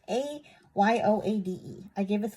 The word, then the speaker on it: Ayoade: I cannot pronounce his name. It's Ayoade.